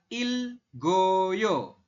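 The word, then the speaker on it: 읽어요: Kemudian ada lagi ilek oyo, dibacanya adalah ilgoyo.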